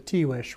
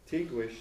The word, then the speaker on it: Tiguex: The Tiwish War was 1540 to 41. And the winter. Tiguex is T-I-G-U-E-X. That's right. It's a 16th century Spanish pronunciation of those letters.